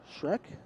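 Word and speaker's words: Schreck: bit deeper this is Abby Shrek SCH re ck is that how you pronounce Abby's last name I believe so Abby Shrek Abby Shrek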